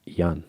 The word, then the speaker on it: Jan: Jan. It's Jan, not John. Jan.